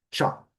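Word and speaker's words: chalk: O L não é pronunciado, então vai ser tchó.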